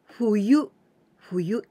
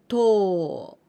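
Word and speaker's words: 冬: Fuyu, this is winter, fuyu. But we can also pronounce this kanji in onyomi, to.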